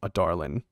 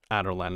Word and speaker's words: Adarlan: So with that out of the way, let's start with the land of Adarlan, or Adarlan, as I've been mispronouncing for years, or for like months, I think.